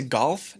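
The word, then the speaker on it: 悟: right arm it is a Japanese character pronounced go and it means to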